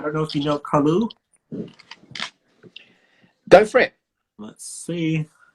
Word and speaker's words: Kalu: I want to pronounce it right. Kalu, real Kalu.